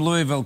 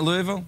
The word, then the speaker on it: Louisville: Here's one from Louisville, Kentucky. Have you ever been to Louisville? Yeah. Do you know how to say it properly? You don't say it Louisville, you say it Louisville.